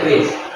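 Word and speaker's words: QRIS: Bukan Kris, bacanya Kris.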